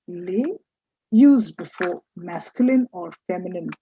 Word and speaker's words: les: feminine singular you have l e s which is pronounced lay used before masculine or